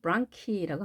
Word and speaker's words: bronchi: 복수 형태로는 bronchi라고 합니다. 여기도 마찬가지로 크로 발음이 됐습니다.